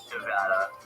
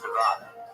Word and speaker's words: Nevada: on board for saying Nevada. But I will not be saying Nevada. I believe that based on the fundamentals of the language, it's pronounced Nevada.